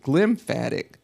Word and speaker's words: glymphatic: Most of us are familiar with lymphatic, but they call it glymphatic fluids that are floating around in our brain.